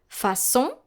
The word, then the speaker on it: façon: No matter the vowel following the letter C with a cédille, you will need to pronounce it just like the letter S. So, for example, façon is spelled F-A-C cédille O-N.